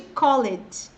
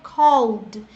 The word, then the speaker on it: called: Nada de called, tá? A pronúncia é called. Imagina que depois do L tem um D. D. Então, called.